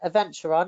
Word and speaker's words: Adventuron: Adventuron is how you say it.